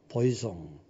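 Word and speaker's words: poisson: S가 하나 더 들어갔죠? 보이종, 불란서 말이란 말이야. 보이송, 물고기야, 물고기.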